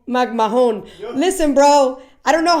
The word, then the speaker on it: McMahon: again magm magm bro the H is silent like I would and